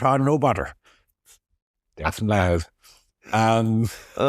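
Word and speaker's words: Louth: Is it Luth or L? It's loud. Loud. It is loud.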